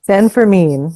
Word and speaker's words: San Fermin: but like, for example, with, please correct my pronunciation of it. Is it San Fermin? Fermin? San Fermin.